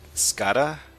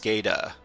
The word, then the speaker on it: SCADA: Justin says, "Please stop calling it scattera. In the 30 years in automation industry, I've never heard it pronounced like that. It's pronounced SCADA.